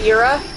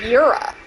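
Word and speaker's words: Djura: So I think it is Yura. I think it is either it's Jura or Yura. I think that is indeed how you say it.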